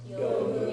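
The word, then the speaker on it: 読む: So this one is pronounced yomu. Yomu.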